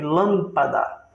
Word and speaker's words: lâmpada: Proparoxítona é a antepenúltima sílaba forte. Por exemplo, lâmpada. Lã. Depois tem mais 2 ainda. Pá e dá. Última, penúltima, antepenúltima mais forte é a proparoxítona.